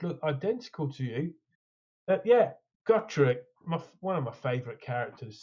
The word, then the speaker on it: Gotrek: you pronounce his name? Gotrek or Gotrek? Gotrek.